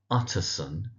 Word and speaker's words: Utterson: So that's Utterson. Emphasis on the first syllable Utterson. We have his cousin, Richard Enfield.